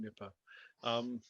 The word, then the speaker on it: Nipah: Well, I referred you to a virus called Nipah, although people pronounce it differently. Being from Liverpool, I call it Nipah.